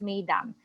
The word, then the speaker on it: mesdames: It's spelled as mesdames, but we pronounce it as madam.